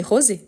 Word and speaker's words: rosé: Rose, c'est un E muet, tandis que rosé, c'est la règle, les mots qui finissent avec les E accentués pour marquer que les E doivent être prononcés.